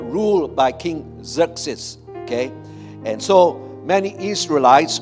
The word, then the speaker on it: Xerxes: Xerxes, okay? All right? Israel was under the dominion of this Persian Empire, all right, ruled by King Xerxes, okay?